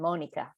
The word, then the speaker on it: Monica: the German and Spanish pronunciation, Monica.